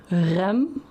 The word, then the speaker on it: Rembrandt: Rembrandt. Rembr. That's all rolling RS.